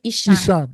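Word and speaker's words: Esan: They call Isan. Yeah. Isan. All my bean boys. Please do not shoot me. Thank you very much. Isan is wild though.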